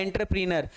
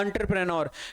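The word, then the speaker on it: entrepreneur: इसमें एंटर, वैसे तो एंटरप्रीनर ऐसे लिखा हुआ है, एंटरप्रीनर बोलना चाहे तो, लेकिन राइट प्रोनाउंस क्या होता है, एंटरप्रेन्योर।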